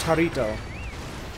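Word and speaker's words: Jarritos: Mexican soda, pronounced Jarito.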